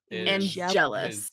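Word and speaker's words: Angelus: Angels not just Angel Kevin how do you pronounce this this name it's angelis angelous yes uh which will be an important name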